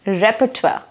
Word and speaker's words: repertoire: Get prepared to learn the pronunciation of this word. It's repertoire, okay?